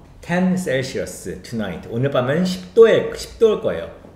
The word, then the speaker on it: Celsius: 아, 이건 발음만 알려줄게요. 셀시어스라고 발음하면 됩니다. 10 Celsius tonight.